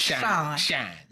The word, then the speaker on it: Sean: You gotta say it right. Shine.